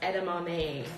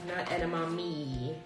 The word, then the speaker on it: edamame: a bowl full of edamame and it is pronounced edamame edamame I mean that's just soy beans and their